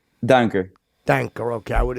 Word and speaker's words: Duinker: foreign how do you say your last name danker dank or okay I would have said that